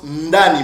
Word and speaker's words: Ndani: Ce nom-là, c'est prononcé ou se prononce Ndani, mon frère. C'est pas Adonai, ok? C'est Ndani.